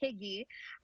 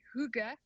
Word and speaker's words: hygge: Some people say it's hygge. It's actually pronounced hygge.